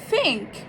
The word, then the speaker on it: think: Put your tongue behind your upper teeth with a little bit of air and say th, th. think.